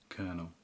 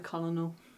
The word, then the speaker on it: colonel: Colonel. Colonel cuz I was going to call it a colonol.